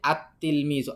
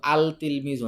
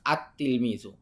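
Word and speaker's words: التلميذ: আর নিচে কিছু শব্দ অক্ষর দিছে, এই অক্ষরগুলো থাকলে আমরা লাম উচ্চারণ করব না। যেমন আমরা এখানে বলছি আত্তিল মিজু, আল তিল মিজু না, আত্তিল মিজু।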